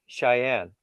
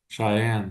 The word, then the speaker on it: Cheyenne: Cheyenne. Cheyenne. Cheyenne. Cheyenne. Yeah. Put like think of you like your eye and say Cheyenne. Cheyenne.